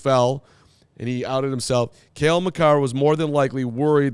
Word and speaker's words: Cale Makar: Cale Makar, yeah. Which we talked about in the show because he said that actually that wasn't a trip. I just fell, and he outed himself. Cale Makar was more than likely worried that after the